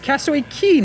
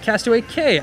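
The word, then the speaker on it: Castaway Cay: of cast away and that's actually pronounced castaway key not cass 28k i had no idea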